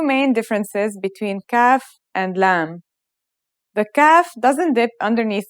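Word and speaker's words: ل: for this lesson is lam it looks a bit like the previous letter kaf in its isolated and final forms the lamb sounds like the english l very easy to pronounce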